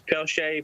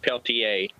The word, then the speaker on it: Peltier: The first pronunciation was correct. Everybody says Peltier, but it's actually pronounced Peltier. That's French.